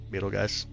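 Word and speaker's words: Betelgeuse: Beetle guys. Beetle guy said it's kind of how you pronounce it. We go Beetlejuice as well.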